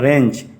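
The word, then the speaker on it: wrench: रेंच कहते हैं और रेंच का स्पेलिंग देख लीजिए आर ए सीए नहीं है उसके आगे डब्लू है जैसे राइट में आर आई टी नहीं होता है डब्लू आर आई टी होता है वैसे ही रेंच में भी डब्लू से स्पेलिंग होता है लेकिन डब्लू साइलेंट रहता है समझ में आ गया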